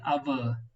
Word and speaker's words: hour: இத வந்து hour கிடையாது, hour. ஆ உச்சரிப்பு வர்றனால இது என்ன பண்றோம்? hour. அவர் அப்படிங்கிற உச்சரிப்பு வர்றதுனால நம்ம ஆன் போடுறோம்.